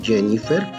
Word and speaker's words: Jennifer: Fíjense, Fátima, Íñiguez, Jáuregui, esta es Jennifer, como por contaminación del inglés, la J se pronuncia como Y.